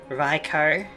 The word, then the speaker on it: Raikou: And if Google kind of Translate and the better searching is to be believed, it should be pronounced Raikou and Garudon.